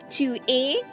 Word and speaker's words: tu es: Next you have tu es. Tu es again like je suis. Tu es. The S at the end of the word a is silent.